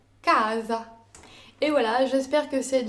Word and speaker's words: casa: alors l'accentuation se fera forcément sur l'avant dernière syllabe casa et voilà j'espère que cette vidéo vous aura